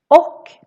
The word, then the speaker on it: och: We skip the ch here and just make it a little o instead. Och becomes o when we talk.